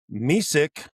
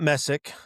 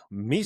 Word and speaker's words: Mesick: Celeste is from Missic High School, not Messic, Missic. Not Messic.